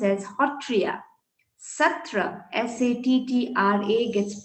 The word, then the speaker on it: Sattriya: satria gets pronounced as hotriya satra s-a-t-t-r-a gets pronounced as hotro so ho this particular sound is very peculiar to our language and the sanctum center